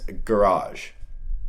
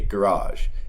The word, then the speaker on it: garage: The first phrase is garage. In Canada, we say garage. In other countries, you might hear the word pronounced garage. Both are correct.